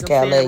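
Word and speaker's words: Callais: It's Louisiana versus Calais. Right. What That's that how means it's pronounced.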